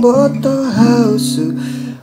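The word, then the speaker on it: ボートハウス: Ini pelafalan dalam bahasa Inggris tapi dilafalkan oleh orang Jepang gitu, dengan lidah orang Jepang yang seperti itu, tidak bisa menyebutkan boat house, mereka biasanya nyebutnya Boto Hausu.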